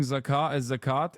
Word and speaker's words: Zakat: single shit about, not criticism of Sombra, you're mispronouncing Zakat, which is the Islamic yearly charity tax. Yeah, I know what Zakat is.